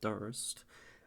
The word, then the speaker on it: durst: So sometimes the difficult thing for me about verse, which rhymes with durst and first, is sometimes you're so